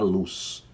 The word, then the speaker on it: Luz: não é tradução para luz ausência de trevas luz não luz é a pronúncia luz O que quer dizer luz tradução incerta mas luz é pronúncia e não tradução aí o hebraico aí